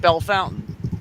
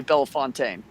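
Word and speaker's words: Bellefontaine: had called it hell called it belle fountain but it was really bellafontaine so there you go but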